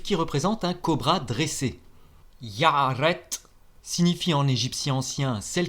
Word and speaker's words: iaret: est Urus en égyptien yaret il s'écrit avec l'unilitaire du roseau i de l'unilitaire du bras a un a long comme le a en arabe puis de l'unilitaire de